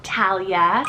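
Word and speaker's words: Talya: two girls names here same pronunciation but different spellings so we have Talia spelled t-a-l-y-a or it could be spelled t-a-l-i-a-h both of them are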